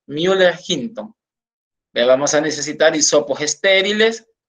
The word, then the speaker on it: Müller-Hinton: Entonces nosotros lo pronunciamos como agar, pues que es un medio sólido, Müller-Hinton.